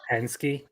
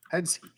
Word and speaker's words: Hensuki: stuff like sasuke where they don't actually pronounce it sue. It's just an s sound and the the uh the second part of that just is kind of muffled or omitted.